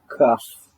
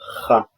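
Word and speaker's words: כ: Kaf, Kaf. It makes the sound of Ka or Cha.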